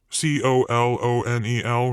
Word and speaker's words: colonel: let's see ah you know the word colonel c-o-l-o-n-e-l right as in the military right jimmy said but it's pronounced colonel like from corn it makes no